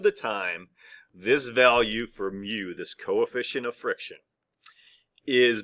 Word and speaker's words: mu: letter mu all right um mu we would pronounce it mu okay and that's what that represents anytime we